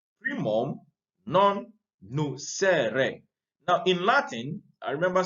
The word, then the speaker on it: primum non nocere: So this principle is based on a Latin maxim, primum non nocere. Primum non nocere. Now in Latin, I remember studying Latin small. In Latin, you pronounce the words as they are.